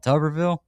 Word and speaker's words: Tuberville: You call it Tubberville. Yeah, there's only one B. You're right. I mean, it is spelled like Tuberville.